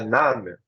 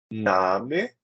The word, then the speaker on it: Name: Mein Name ist. Cuidado que não é name, é Name, ok?